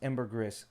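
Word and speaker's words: ambergris: was wrong it's not it's ambrox and it's Ember Gris and that's they use this in a [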